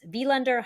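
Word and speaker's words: Víglundur: So it's Vilander Hartensen. And it's the way it's spelled, like Vilander is spelled Viglunder. So the VIG kind of throws you off, right? And then his Mm-hmm. last name is spelled Hjartarson. So like that like double consonant thing screws you up. Mm-hmm. And he says it like Vilander Hutchinson.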